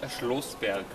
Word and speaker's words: Schloßberg: Like Schlossberg or? Schlossberg. Schlossberg. This is not B, this is. Schlossberg. No, this is not B, this is S.